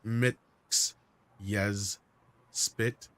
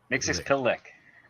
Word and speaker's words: Mxyzptlk: And he also wants to point out that it's pronounced Mix Yes Spit. Mixes Pillick. Yes. I know.